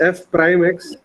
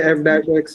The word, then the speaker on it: f prime x: dash x equal to actually correct way of pronouncing this is f prime x but we say f dash x generally but okay it doesn't